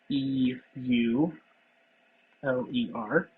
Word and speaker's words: Euler: named uh Leonard Euler that's spelled e u l e r pronounce Euler and he lived in